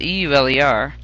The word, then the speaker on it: Euler: That name is spelled E-U-L-E-R, but it's pronounced Euler.